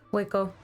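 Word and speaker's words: Hueco: Waco. No need to pronounce the H. Waco.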